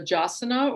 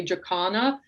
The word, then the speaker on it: jacana: It's about a bird called a jasana, or some people say jacana. That's an interesting thing with birds in general. Like, you can find different pronunciations for certain birds, and they're all right, depending on where you are and who's saying it.